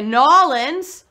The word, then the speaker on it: New Orleans: I gotta ask the chat right now because so many people pronounce New Orleans differently, right? Some people say New Orleans, like I do. Some people say Nawlins, right? That's the right way to say it. And then some people say New Orleans, which I think is how you pronounce it when you're very far away or never heard of it.